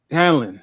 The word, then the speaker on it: Hallorann: How do you pronounce his last name? Which one? Oh, The Hallorann? black guy. Hallorann.